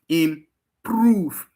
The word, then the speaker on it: improve: Improve, to call the proof, improve. The proof seems to be stressed.